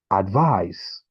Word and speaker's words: advise: Now, in the first one, the stress is placed on the first syllable, and the second one, the stress is placed on the second syllable in case if you're pronouncing it.